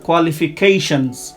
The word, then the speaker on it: qualifications: your qualification হবে না, qualifications। হ্যাঁ, এখানে কোয়ালিফিকেশনস হবে না, এস এর উচ্চারণ জেড এর মতো হবে।